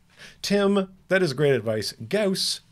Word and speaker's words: Gauss: that is great advice gauss rhymes with house so this is a